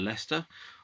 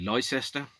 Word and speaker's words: Leicester: just graduated from university where i went to leicester or if you pronounce it phonetically lycester graduated from the de montfort university also known